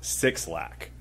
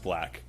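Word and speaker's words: 6LACK: by this artist how do you think you pronounce this artists name I'll give you a hint it's not six lakh but what do you think a voice interface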